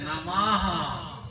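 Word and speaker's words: नमः: অস্বীকার বিসর্গ ভুল হয় বিসর্গ যেমন নামা নম নমর কারেক্ট উচ্চার নামাহ বিসর্গ বলে হওয়ার মত উচ্চারণ উচ্চারণ একটু ভুলে হয় যদি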